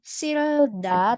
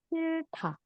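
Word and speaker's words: 싫다: Jadi bukan silda tapi silta.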